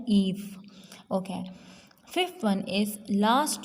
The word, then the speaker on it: Eve: So the E of Eve should be capital and it is pronounced like Eve.